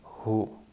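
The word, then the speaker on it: הוא: a vow o and final is a silent Alf so the sound of this would be Who who okay and this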